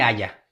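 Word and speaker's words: Haya: Vicente Aya. Aya se escribe H-A-Y-A.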